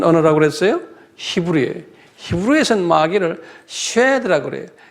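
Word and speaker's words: shed: 히브리에서는 마귀를 쉐드라고 그래요. S-H-E-D, 쉐드라고 발음해요.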